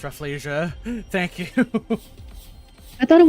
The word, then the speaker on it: Rafflesia: Refleia. That's how it's pronounced. I've never had anybody tell me how to pronounce Refleia. Thank you. I thought it was Rafflesia.